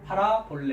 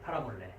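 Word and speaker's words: παραβολή: 자, 비유라고 적어냈는데 비유라는 단어 한번 발음해 보시겠습니까? 예, 위에 거는 이제 역격 복수로 되니까 이제 파라볼라이스고요. 원형은 파라볼레. 예, 파라볼레.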